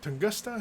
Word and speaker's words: Tunguska: Tunguska, is that how you say it?